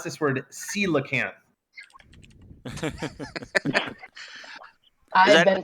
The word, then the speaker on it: coelacanth: You pronounce this word coelacanth.